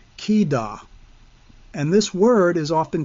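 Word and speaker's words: חידה: but the word proverb is another word altogether, pronounced kidah.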